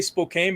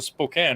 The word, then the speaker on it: Spokane: weed Bakery in pookan I always say Spokane because I always pronounce things phonetically but a Spokane right Spokane Washington yep Spokane Washington so how